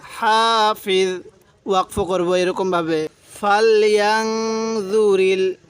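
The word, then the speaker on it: حافظ: তাহলে ইং কুল্লু নাফসিল্লাম্মা আলাইহা হাফিজ, হাফিজ, এই জটা নরম করে উচ্চারণ করব।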